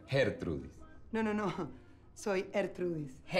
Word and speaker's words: Gertrudis: Disculpa, Yulisa, el nombre se pronuncia Gertrudis.